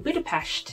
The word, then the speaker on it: Budapest: Today, as you saw at the beginning, we were in Budapest with two of my good friends, Awat and Charlene. I pronounced it wrong a couple of times. It is definitely Budapest.